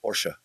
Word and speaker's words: Porsche: created Porsche yeah yeah Porsche with long Porsche Porsche porsa por is a two- syllable word oh wow something I